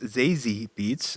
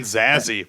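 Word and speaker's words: Zazie Beetz: that uh Z beats zi beats I hope I'm pronouncing that correctly I was saying zazzy but I that can't possibly be right but I like it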